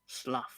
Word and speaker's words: Slough: Slough is spelled like it should be pronounced. Slough.